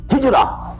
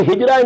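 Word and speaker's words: هجرة: the word hijra also hijra which we in udu pronounce hijat this is the negative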